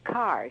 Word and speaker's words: Kerr: by the way it's carr she pronounces it car and deborah didn't know